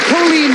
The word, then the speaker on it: Colleen: And you do pronounce it Colleen, It's not Colleen, yes. Colleen.